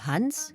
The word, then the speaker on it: Hans: Ainsi, on lui pardonne même volontiers de faire rimer le prénom de Hans, qu'elle prononce à la française, Hans, avec France.